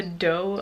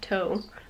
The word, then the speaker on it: Tao: And it is called The Dough of Poo, which I thought was toe. Taoism is actually, even though it's a T, they pronounce it dough, as in Taoism.